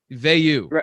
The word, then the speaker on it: Vayu: So yeah, Vayu is how we say it. Vayu.